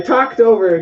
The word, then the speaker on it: talked: And pronunciation is not talked, but it's actually with a T sound. So we'll say talked over.